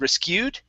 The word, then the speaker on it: rescued: The stress is actually at the beginning instead of rescued.